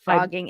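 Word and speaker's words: phrogging: ID show about it called frogging it's spelled with a pH so this is horrible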